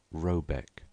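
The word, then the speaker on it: Råbäck: The mana house or hergard in question is to be called r a b a e c k pronounced something like robec though that is not its name.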